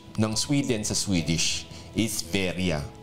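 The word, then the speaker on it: Sverige: very Ge yun yun pero ang pronunciation pala non Pag binasa mo pala yun sa Swedish is veria yun po yan mga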